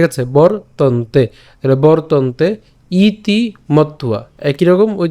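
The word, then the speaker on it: মত্বা: তো আমরা এই তন্তেটা একসাথে উচ্চারণ করতে পারি বরতন্তে। ঠিক আছে, বরতন্তে, তাহলে বরতন্তে ইতি মত্তুয়া।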